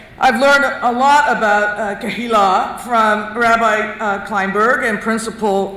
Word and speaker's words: Kehillah: First of all, I've learned that it's Kehillah.